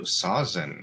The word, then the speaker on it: Sawczyn: And today with us, we have Sausen. Am I pronouncing your last name right? That was perfect. Well done.